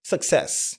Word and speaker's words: success: H et le nom c'est success. Donc faites attention à la prononciation. Vous ne direz pas success or success. Second syllable. stresses.